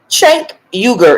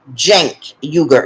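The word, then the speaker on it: Cenk Uygur: that it's possible now chank yuger is running Jen yuger is running I always say his name are wrong it starts with a C but it's pronounced with a J oh that's pretty okay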